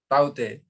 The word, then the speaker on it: Tauktae: The word Taute, pronounced as Taute, has been suggested by Myanmar, which means gecko, a distinctively vocal lizard in the Burmese language.